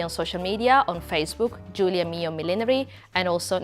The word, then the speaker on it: Giulia Mio: millinery as well but my name is spelled g-i-u-l-i-a and my surname is m-i-o so i know it sounds exactly the same but it's spelled differently sorry i'm italian there's